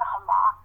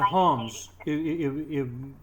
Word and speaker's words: Homs: I think it's in Hamas. Is that how you pronounce it? I think it was in Homs. It was in Homs, I believe.